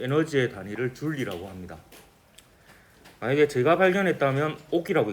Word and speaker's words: 줄: 이거를 줄여서 J라고 쓰고 줄이라고 읽습니다.